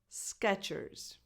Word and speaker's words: Skechers: Stone Island number six Sketchers Sketchers this is pronounced as if it was spelled Sketchers with a t in the middle Sketchers Sketchers Sketchers number